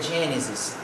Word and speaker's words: Genesis: Gênesis, na nossa Bíblia, em inglês é Genesis. Genesis, que traduzido é Gênesis, se pronuncia Genesis e se escreve, se pronuncia, Genesis e se escreve Gênesis, da mesma forma que se pronuncia.